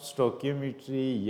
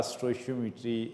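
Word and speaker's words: stoichiometry: इसको आप स्टोकियोमेट्री या स्टोशियोमेट्री रीड आउट कर सकते हो, प्रोनाउंस कर सकते हो।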